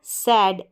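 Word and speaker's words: said: फिर है सैड, ए आई को ए, सैड।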